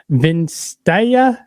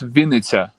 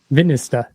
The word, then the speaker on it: Vinnytsia: Are you, I see the band is credited as from, I'm going to mispronounce this badly, Vinstaya, Ukraine? It's Vinnytsia. Vinnytsia. Yeah, Vinnytsia, yeah.